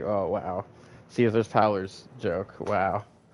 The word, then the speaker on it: Caesar: And uh McCauley Kulkin also is the new Kaizar as they call it, you know, even though it's totally Caesar, but they don't say it right. They call it Kaizar even though it's still spelled exactly like Caesar, but whatever.